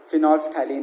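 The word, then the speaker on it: phenolphthalein: आपको इसका नाम याद रहना चाहिए, और इसका प्रोनाउंसिएशन मैं वापस बता रहा हूँ, फिनोल्फ्थैलीन है।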